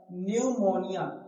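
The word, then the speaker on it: pneumonia: जैसे इधर लिखा हुआ है न्यूमोनिया, न्यूमोनिया, तो यहाँ देखो एन से पहले क्या है, पी आया कि नहीं, जब पी के बाद, तो पी के बाद क्या आया है, एन, पी के बाद एन आ गया, तो यहाँ जो पी है वो क्या हो गया, साइलेंट हो गया।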